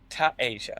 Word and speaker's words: Tiasia: Well, I just said to Karen, damn, I pronounced that. I should know. Tiasia.